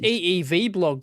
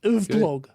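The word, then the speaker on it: EEVblog: yep technology anyway sure actually pronounced eev blog properly yeah that's true not of blog or something you know oh is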